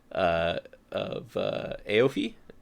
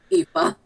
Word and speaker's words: Aoife: has locked up the town busker friend of Aofi. I'm gonna have to learn how to pronounce that, aren't I? Aoife.